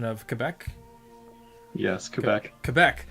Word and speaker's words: Quebec: home province of, I'm going to chance the pronunciation of Quebec. Yes, Quebec.